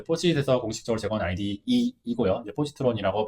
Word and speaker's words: Positron: 이제 포지트론이라고 발음을 해요.